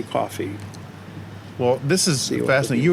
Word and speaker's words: Coffey: And I should just point out that coffee is not spelled like the beverage. Correct. Coffey.